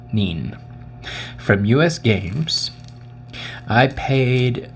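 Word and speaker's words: Kneen: I'm assuming the K is silent. Neen.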